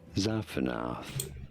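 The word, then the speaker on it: Zaphenath: You say it Zapanath.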